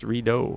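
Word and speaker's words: Rideau: video for future reference it's pronounced redo phonetically yes a million people have pointed out that i was incorrectly saying the redo center i was calling it the riddle center but i don't profess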